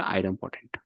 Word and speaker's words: idempotent: So those kind of things, that is the reason we used to call Ansible is the idempotent.